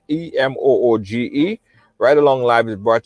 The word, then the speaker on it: Emoji: It's spelled Emoji, Emooge.